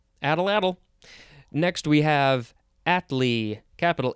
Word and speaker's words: atlatl: we say it again it's called an atlatl at or is it just atlatl at at little geez at little can you help me out i'm gonna look it up this is from the nahuatl word uh a-h-t-l-a-t-l uh i think i don't know if that's american indian uh nahuatl i think it might be american indian let me try that word again at atlatl atlatl sure add a ladle next we have atlee